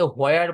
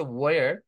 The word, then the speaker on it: where: এটা অনেকে হোয়ার বলে, হোয়ার, হোয়ার না, শব্দটা হচ্ছে ওয়্যার। অনেকে বলে হোয়েন, হোয়েন না, ওয়েন। ডাব্লিউ এবং এইচ যখন শুরুতে থাকে তখন এইচ এর উচ্চারণটা ওইভাবে হয় না, রাইট?